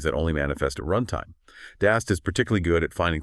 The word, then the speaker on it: DAST: In contrast, you have dynamic application security testing, or DAST, pronounced DAST.